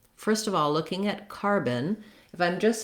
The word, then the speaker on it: carbon: Then the letters B-O-N have they sound more like it's a vowel schwa in that in that syllable, and so you can think about it like the word bun, but you don't want to have a lot of length there. So not car-bun, but rather carbon.